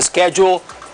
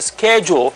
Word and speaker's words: schedule: Number three, talking about the schedule of a sports event. And when we talk about the schedule, you're going to find that the word schedule has two pronunciations.